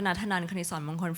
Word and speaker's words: Natanan Knitsornmongkol: Natanan Knitsornmongkol from Bangkok, Thailand.